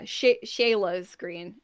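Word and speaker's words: Scheele's Green: You have a green, which is Sheila's Green. It's spelled Scheeles, green. SEH? SCH, like Germanic school. Oh, okay. Yeah, Shayla's Green.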